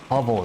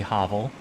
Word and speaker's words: hovel: Hovel is a good one. I always thought it would be hovel. It's not, it's hovel.